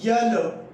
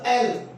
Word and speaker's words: L: अब इसको देखिए, इसको हम क्या पढ़ते हैं? यल, जो कि रॉन्ग है, जो कि इनकरेक्टली हम प्रोनाउंस करते हैं, ये गलत है। हम इसका क्या होगा, इसका होगा एल, एल होगा, एल लग गई भाई गॉड।